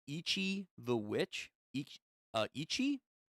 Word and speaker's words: Ichi: And the options we have are Donadan, 20th Century of Boys, and I believe it's pronounced Ichi the Witch. Uh, Ichi. I feel like I'm saying Itchy, but Itchy the Witch.